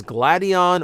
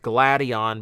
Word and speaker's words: Gladion: pronounce it, it is Gladion or Gradion. You're not technically wrong no matter what. I'm gonna try and stick with Gladion because it's based on the term gladiator.